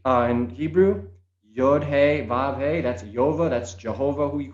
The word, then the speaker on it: Yahweh: y h v wh yahweh that's all mispronounced every culture has their own way of saying it but it's yova and it is if